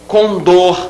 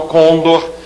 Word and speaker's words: condor: ruim então ruim oxitona Condor e não Condor novel relativo a novo